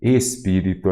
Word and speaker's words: espírito: vocês comecem pelas proparoxítonas espirito então a antepenúltima sílaba é a tônica então eu já sei espírito aqui ela é que